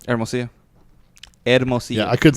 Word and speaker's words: Hermosillo: You're like Hermosillo. It's a mouthful. And he tried to get me to say it by like syllable. Ed. Yeah, it's like Ed. Mo. See.